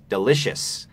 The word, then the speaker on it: delicious: มัน ชัด นะ ครับ เป็น del นะ ครับ ถึง แม้ มัน สะกด ด้วย c i o US S ตอน ท้าย ไม่ ได้ ออก เสียง ว่า chear นะ ครับ ไม่ ได้ มี เสียง ควบ ตรง นี้ มัน เป็น เสียง SH ตาม ด้วย เอ่อ แล้ว ก็ delicious delicious เน้น พยางค์ ที่ 2 นะ ครับ delicious This Is delicious